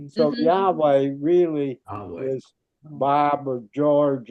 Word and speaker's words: Yahweh: Yahweh is what historians think the vowels are. We have no proof that that's how you say it, but that is those are the consonants that we are given.